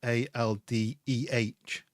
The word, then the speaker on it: Aldi: they changed it to ALDEH, because in Manchester you'd say Alde, like, and it's this basically the pronunciation of it in the north of England.